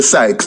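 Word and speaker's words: psyches: tell you about sex sex is pronounced p-s-y-c-h-e-s we say sykes now how do we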